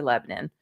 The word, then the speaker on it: Lebanon: Now, if you're from Nashville, you know it's really Lebanon. But for the Lebanon. rest of you, it's spelled Lebanon like the country.